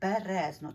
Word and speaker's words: Березно: це так тому що є містечко Березно тобто наголос на другому складі А я говорила Березнівський